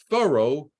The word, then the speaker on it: Thoreau: of the word Furrow his name rhymes with furrow thorough rhymes with Furrow this is going to